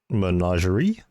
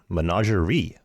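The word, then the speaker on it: menagerie: Managerie, not ray. Managerie.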